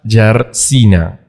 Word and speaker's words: Jarzyna: Bueno, estamos en una nueva sesión de Quant Sessions y estamos muy felices de tener como invitada a Asia Yarsina, así se pronuncia, ¿verdad?